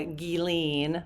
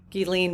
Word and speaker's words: Ghislaine: So, we are going to look into the meeting between the DOJ and uh Gilene, I know how to say it now. Thank you, Gilene Maxwell.